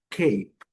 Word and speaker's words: cape: A primeira palavra é cape. Observem, a letra A vai ter o seu som original, que é o som da fogal longa, é som de e esse e não vai ser pronunciado.